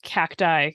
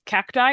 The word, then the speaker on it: cacti: think that's valid um seeing as I pronounce cacti cacti and not cacti I think that that